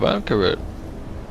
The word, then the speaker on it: Vanikryn: Oh, Vanker the Vatican. Have I pronounced that right?